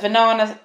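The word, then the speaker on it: Vinana: And yes, so many people tell me that Venana rhymes with banana and they just remember it by banana.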